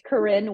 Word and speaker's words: Karin: I know so it's Karin win it's spelled like Karen Nayan but it's it's spelled